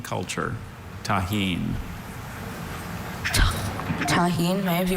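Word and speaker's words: tajín: Tahine.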